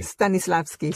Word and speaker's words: Stanislavski: Nikki, mencionaste que estudiaste, perdón, a ver si lo pronuncio bien, Stanislavski. Stanislavski, sí.